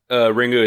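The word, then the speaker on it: リング: Ringu is just how you would actually pronounce it in Japanese. Like if you read the characters, it's Ringu, but the English translation would be Ring.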